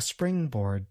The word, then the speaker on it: springboard: Springboard can be difficult to pronounce because it involves a consonant cluster, a group of consonant sounds, at the beginning of the word.